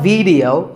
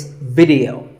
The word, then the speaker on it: video: The important thing is that both the I and the E are pronounced as short I sounds. It's not video, it's video.